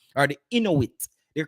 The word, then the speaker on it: Inuit: Or the Inuit. They're called the Inuit people. Let me rephrase that. It's not Eskimo.